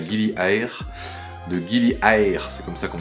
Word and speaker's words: Gili Air: De Gili Air, c'est comme ça qu'on prononce.